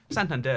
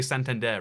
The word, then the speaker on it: Santander: I mean, Santander is a place in Spain, and they say Santander rather than Santander, which would be the English pronunciation.